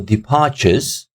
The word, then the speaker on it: departures: For example, departures, departures, look, departures. So if you hear me, departures, departures. So the second syllable has got stress on it.